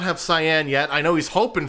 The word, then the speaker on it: Cyan: uh I know that a lot of people say that it it's Cayenne instead of cyan I would have thought